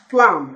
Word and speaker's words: plum: a mistake by pronouncing so what do you think the pronunciation of this one will be plum everybody say plum plum what do you